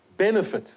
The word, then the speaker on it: benefit: Benefit. The stress is on the first syllable.